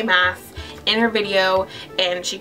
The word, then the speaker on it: Maas: book right here by Sarah J Mass it's Mass people Jesse interviewed Sarah J mass in her video and she told us how